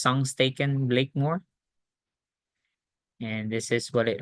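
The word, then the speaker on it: Sengstaken-Blakemore: there it's spelled as s staken but it's pronounced s staken Blakemore and this is what it looks like so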